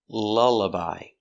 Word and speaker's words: lullaby: lullabi to the baby l lullabi so we see the sound two times uh L lullabi she's